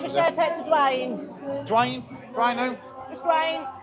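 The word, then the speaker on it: Duine: And it's a good job I read that because how would you pronounce that? D-U-I-N-E? Dwayne?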